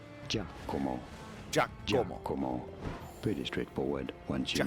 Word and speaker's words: Giacomo: In Italy, it is said as Giacomo.